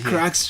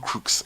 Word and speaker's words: Cracks: How is Cracks Training Institute doing? We are doing well. Fantastic. Doing well. I like the way you pronounce it. It's not crooks, it's cracks.